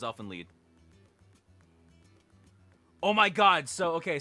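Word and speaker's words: Elfen Lied: it's like a German it's like a German pronunciation you don't want say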